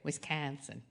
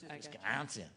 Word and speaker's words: Wisconsin: Oh, I didn't say it right. Wisconsin. No, we don't say it that way. People who are not from here say it that way. Oh, I got you. Wisconsin.